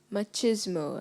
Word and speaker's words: machismo: The Japanese have taken culinary machismo to a new level. Machismo. Am I pronouncing the word correctly?